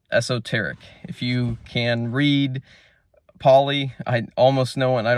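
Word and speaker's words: Pali: just flat out esoteric if you can read pully I almost no one I don't even know if anyone can speak poly really these days but um by the way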